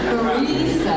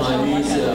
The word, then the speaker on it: Marisa: Okay, Marisa has, the Italian pronunciation, I grew up in Brooklyn with a different one, has done a ton